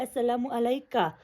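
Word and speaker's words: السلام عليكَ: Normally اگر ہم Arabic کے لٹرلی گرامر کے حساب سے جائیں تو اگر میں کسی ایک بندے کو سامنے کوئی میل ہے، سنگل ہے، تو مجھے اس کو کیسے سلام کرنا چاہیے؟ السلام علیکہ. دیٹس دا ایکچوئل یہ ہے سلام کرنے کا طریقہ اگر سامنے ایک سنگولر میل ہے.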